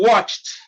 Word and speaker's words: watched: in the first one t replaces e d in watched all right in the